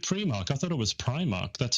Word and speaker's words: Primark: I gone with Primark because that's how I would pronounce the word if you just showed it to me. Primark. P R I sounds primary school.